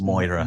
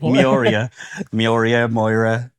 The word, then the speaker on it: Miura: Yeah, Aaron always says Moira. Moira. Moira, like I Moira always Stewart. said- Oh, you say like Muriel. Miura. Miura. I'm going to say it wrong loads of times. Miura. It's quite often spelt incorrectly, but it's very often pronounced incorrectly.